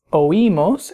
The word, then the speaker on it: oímos: You'll notice in these forms the I has an accent mark to break the diphthong, meaning that it makes that I a syllable by itself, so it's oímos instead of oímos, and oís instead of oís.